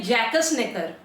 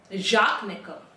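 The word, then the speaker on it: Jacques Necker: बहुत ज्यादा क्रोधित थी अब यह एक नाम है इसको जैसे हम पढ़ेंगे तो हम तो बोलेंगे जकस नेकर मगर गुल भाई साहब बोल रहे हैं कि इनको प्रोनाउंस करते हैं जाक नेक जाक नेकर तो यह जो जाक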